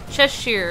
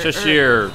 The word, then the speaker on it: Cheshire: I can never say her name. Cheshire. Cheshire. It's kind of like the Cheshire Cat in Alice in Wonderland.